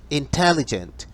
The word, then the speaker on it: intelligent: el quinto caso tenemos intelligent intelligent que suenan cuatro sílabas inteligente le añadimos porque